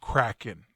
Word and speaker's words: Kraken: People are saying it's pronounced Kraken. Kraken?